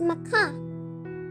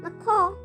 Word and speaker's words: macaw: M for macaw, which can also be pronounced as macaw, macaw or macaw.